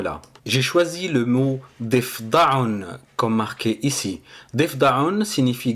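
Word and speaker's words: ضفدع: defdaon signifie grenouille donc pour le prononcer correctement donc on va faire def def donc c'est le dad et le fa donc on va les lier ensemble parce qu'il y a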